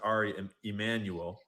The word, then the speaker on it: Ari Emanuel: chairman, but I guess his name is probably pronounced Ari Emmanuel because it's Jewish, not Mexican.